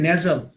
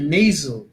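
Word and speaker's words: nasal: করতে চাই এবং এটার মিনিংটা আপনারা অবশ্যই জানবেন উচ্চারণটা হচ্ছে এখানে দেখেন আমরা বলি নেজাল এটা হবে নেইজো নেই আমরা বলি নে ইট শুড বি লাইক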